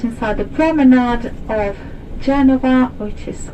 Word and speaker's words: Genova: the football club was genoa which is a british pronunciation of the city because we call it genova v genova football and cricket club